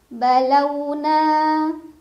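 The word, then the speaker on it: بَلَوْنَا: Balau ada harf lin karena ada waw sukun sebelumnya fathah, dibacanya dilunakan. Balauna.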